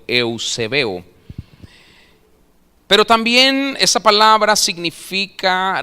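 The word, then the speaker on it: εὐσεβέω: Es la palabra griega que se escribe eusebeo, como Eusebio, pero eusebeo.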